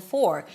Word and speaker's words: for: The word for is pronounced with the F and then the or as in for. So when the word is stressed, you want to make sure that you hear the O sound.